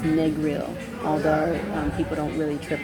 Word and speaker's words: Negril: I learned today from my driver that it's pronounced Negril, although people don't really trip off of the other pronunciations as well.